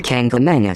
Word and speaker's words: Kancamagus: the White Mountain National Forest to the beautiful Kancamagus Highway in New Hampshire. Hey, Caleb, are you ready to go on this drive? We're going to hit the Kancamagus. pass. Oh, the Kancamagus.